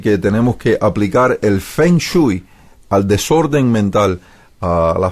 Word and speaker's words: feng shui: enseñanza y cita el fengui pronunciado feng shui es una antigua práctica